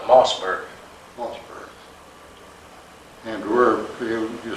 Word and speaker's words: Moosburg: And then we marched from Munich to, well, we pronounced it Moosburg, but I went back this time, they call it Mossburg.